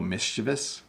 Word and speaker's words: mischievous: was being a little mischievous notice how I kind of mush that whole word together mischievous that means that he